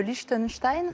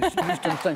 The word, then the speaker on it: Liechtenstein: Le Liechtenstein. Très bien prononcé, c'est le Liechtenstein, c'est très bien.